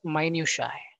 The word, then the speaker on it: minutiae: All right, this is a new word pronounced as minutiae.